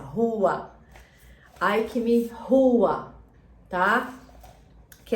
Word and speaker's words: Huath: Hua, Hua. É a pronúncia, Hua.